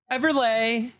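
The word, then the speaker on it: Everleigh: Is s l e i g h. So I would say everlay. Oh, okay. Everlay. Everlay.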